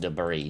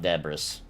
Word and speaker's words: debris: it finally found out that it's that it's pronounced debris not debras I used it like in a sentence out